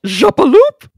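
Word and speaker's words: Jappeloup: I believe it should be pronounced Jappaloop!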